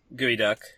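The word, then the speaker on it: geoduck: Gooey duck. It's spelled geod duck like a Pokemon.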